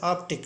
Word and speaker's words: Arctic: But the correct pronunciation Arctic, that ka sound is used before t sound.